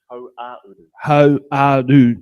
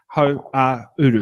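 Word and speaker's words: Hauāuru: Ho-a-uru. Uru is like west. Go ho and then and then uru. Ho-a-uru.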